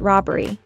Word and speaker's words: robbery: The word is also stressed on the first syllable.